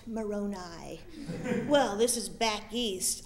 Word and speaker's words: Moroni: sure can you tell me about the angel Moroni I correct him it's pronounced Moroni well this is Back East i' say you're still pronouncing it wrong it's Moroni he's not a top of pasta he's an